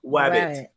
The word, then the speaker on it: wabbit: All right, so today's word of the week is Wabbit. Okay, Wabbit. You crazy Wabbit, you. Wabbit. Yes, Wabbit. Wabbit. Right, it's pronounced just like Elmer Fudge pronounces it, except it means feeling very tired, weak, and not very healthy.